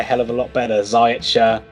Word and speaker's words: Ziyech: Ziyech I don't know how you pronounce it. I say Ziyech. I've heard other people say Ziyech or Ziyech. Ziyech. That's fine.